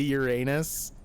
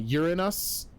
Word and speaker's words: Uranus: Sagan he's uh he started out pronouncing it urine uh Uranus and kids would laugh because it sounded like urine I think he says that in Cosmos I think he calls it Uranus I found it it's